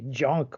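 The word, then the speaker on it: Dzanc: junk or desk books it's hard to pronounce it's d-z-a-n-c junk books and they do a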